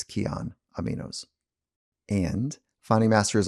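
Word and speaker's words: Kion: fit amino acids are essential and that's why keon aminos are one of my go-to supplements for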